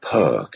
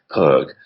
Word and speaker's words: Perque: So I use one called Perk. It's an American brand. It's spelled Perque, Perk.